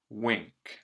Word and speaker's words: wink: n k it's like you can hear the m sound with this n by